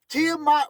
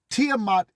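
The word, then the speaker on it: Tiamat: Tiiamat from the Babylonian creation. Most of you are stuck on the Bible. There were stories before your Bible. Tiiamat is before your Bible.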